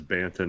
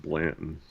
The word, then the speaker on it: Banton: yet I just yeah I forget that it's Banton not Blanton because Blanton sounds right I don't know and